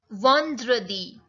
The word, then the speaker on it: vendredi: Vendredi.